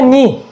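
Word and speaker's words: knife: ऐसे हो गया नी, इसे क्या बोलते हैं, नी, नी यानी चाकू, ठीक है। अब इसे कन्नी मत पढ़ना, ये होता है नी, नी का मतलब चाकू।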